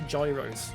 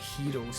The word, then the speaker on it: gyros: I know you don't say gyros, so I don't sound like a twat. It's like Heros or something like that.